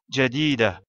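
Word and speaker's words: جديدة: Comme on s'arrête après le mot jadida, on prononce la lettre Ta marbuta finale comme la lettre Ha sans prononcer sa voyelle. Jadida.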